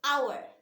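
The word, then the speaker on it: hour: pronounce it as however we don't pronounce the h h is silent right we pronounce it as our okay we pronounce the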